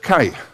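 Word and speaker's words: καί: But it's the word kai, K-A-I, and that means and.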